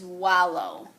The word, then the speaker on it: wallow: so write these down my first word is wallow wallow means to roll around like pigs roll